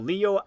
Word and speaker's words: Leo: For I am the glorious, most venerable Leo. It's written with the kanji for lion to be sure, but it's pronounced Leo. I wager you're impressed.